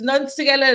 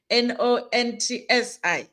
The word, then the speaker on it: Nonsi: It's Nonsi, it's no Nons, I, not Nontsi.